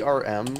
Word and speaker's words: erm: other day the the ERM like that uh is just the British like phonetic pronunciation of um cuz they don't like pronounce their RS oh I did not